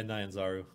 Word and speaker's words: Nyanzaru: Yeah, Nyanzaru.